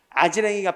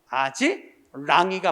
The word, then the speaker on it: 아지랑이: 아지랭이가 피어오르다. 아지랭이 하면 틀린다. 아지랭이가 아니라 다 같이 아지랑이가 맞아.